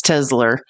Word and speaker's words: Tesla: That's my pronunciation was wrong. It's Tesla. And I think, you know why I think Trump does that? because he hears Elmo saying Tesla, which is that's a South African accent, and then he's trying